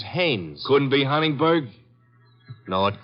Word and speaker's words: Haines: to fish no no no not heinz haynes couldn't be hunningberg no